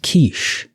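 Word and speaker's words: quiche: break we could have a quickie um it's pronounced kich wasn't talking about food oh my that's a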